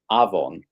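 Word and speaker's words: afon: in Welsh uh it's avon and that means avon avon but not avon but aon av V O N. But still Yeah, it's pronounced like a V.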